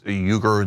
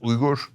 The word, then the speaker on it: Uygur: the show know that my last name is Uygur. That's how we pronounce it here in America. But in Turkey, it is pronounced Uygur. That is the Turkish and Turkic way of pronouncing it.